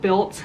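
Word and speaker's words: Bylt: The next item that I bought were these joggers, these workout wear from this brand called Built. It's spelled B-Y-L-T.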